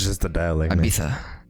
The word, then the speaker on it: Ibiza: Ibiza. Ibiza. They do this like TH sound at the end of any like traditional Spanish word that you would be like, okay.